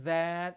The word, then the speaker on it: that: Sama seperti these and that, itu bukan D tapi lidahnya digigit semua. Coba Mbak Mif. That. Though. Bagus itu. These. Ya, lidahnya digigit tapi keluar udara.